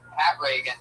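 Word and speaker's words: Pat Regan: That's Pat Reagan. That's spelled P-A-T-R-E-G-A-N. Not like Ronald Reagan. It's announced like Ronald Reagan. Pat Reagan, but there's no A in that.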